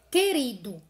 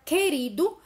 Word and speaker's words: querido: Exemplo, querido. Quando eu pronuncio a palavra querido, observe que eu não consigo identificar o U que está ali presente. A mesma coisa acontece quando eu pronuncio quieto.